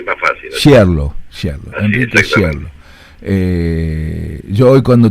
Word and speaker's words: Schierloh: Bueno, Enrique, Enrique es Sherol, no sé si pronuncié bien tu apellido, siempre me costó mucho, Enrique. Es un drama, pero bueno, es corregime. más fácil Sherlo y más fácil. Sherlo, Enrique Sherlo.